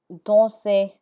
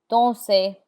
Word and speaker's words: danser: There are exceptions to that rule, and the R is not pronounced in words that end in ER. This list of words are mostly verbs like danser, to dance, danser, chanter, chanter. The ER has an A sound like AY, danser, chanter.